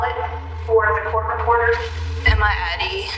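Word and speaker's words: Emadie: Will you please state your name and spell it for the court reporter? Emma Addie E M A D I E.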